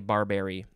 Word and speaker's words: barberry: is it no barbari is it barbary or barbary i think it's barbari b-a-r-b-e-r-r-y uh it is